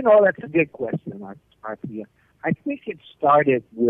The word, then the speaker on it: Arthia: Arthia, actually. Arthia. Arthia, like Arthur.